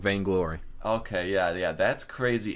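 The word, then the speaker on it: Vainglory: the the big thing they start off with vain glory and then they'll like build their way up vain glory and uh how is how do you spell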